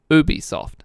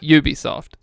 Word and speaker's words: Ubisoft: quick so booby soft is a French company and in France it's pronounced Ubisoft around the world they call it Ubisoft probably you can do